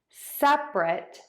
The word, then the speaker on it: separate: So sep-uh-rate, sep-uh-rate, separate, separate, separate. So we have the adjective, 2 syllables, sep-rit, sep-rit, sep-rit.